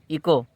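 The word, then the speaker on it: echo: ए य are honour यहां पर हम एच को नहीं पढ़ेंगे तो यहां पर क्या हो जाएगा ई सीओ इको अगला है हम आई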